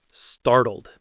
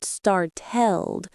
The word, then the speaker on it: startled: It's between an R and a vowel sound. So, it becomes that fast flap D sound again. It's not startelled.